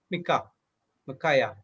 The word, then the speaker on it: Micaiah: The same is how you pronounce this name? Micaiah.